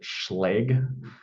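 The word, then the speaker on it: Schlage: systems that uh we we'll pronounce it schle for all intensive purposes jury's out on the the right way to pronounce that but uh these are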